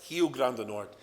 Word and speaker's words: Rio Grande do Norte: It's Rio Grande do Norte, it's pronounced.